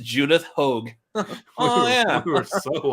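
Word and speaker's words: Judith Hoag: a statement damn we were way off it's pronounced Judith Hogue oh yeah we were so off uh well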